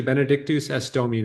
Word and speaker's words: Benedictus es Domine: Benedictusesdomine, I must have said about 60 times. Can you just tell me one more time how to say it? sure, Benedictus es Domine.